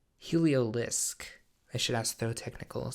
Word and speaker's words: Heliolisk: Is it Heliodisc? Heliolisk.